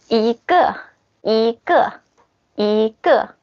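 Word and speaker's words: 一个: And if there's something with the 4th tone after 1, you pronounce 1 like the 2nd tone. For example, ge. This character is the 4th tone. So the 1 change to the 2nd. Like this. 一个, okay?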